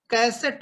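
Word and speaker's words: cassette: कैसेट बोला जाता है, कैसेट बोलते हैं हम लोग जबकि बोला जाना चाहिए कसेट.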